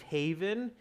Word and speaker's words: haven: a safe haven students notice the pronunciation of this word it's safe haven not heaven okay heaven is spelled differently heaven